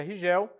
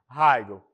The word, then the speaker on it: Rigel: estrelas agora que é a estrela heigel ou rigel se nós falarmos em português é rigel mas na sua pronúncia em inglês nós podemos falar simplesmente Hegel aí ela vai aparecer